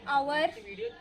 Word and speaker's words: hour: h for example an hour an honorable person and again an honest man like here h is silent that's why if we